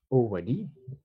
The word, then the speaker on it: already: Alors, on a également already, d'accord, qui est un indicateur de temps qui signifie déjà. Donc, le L de already ne se prononce pas. On a already, d'accord?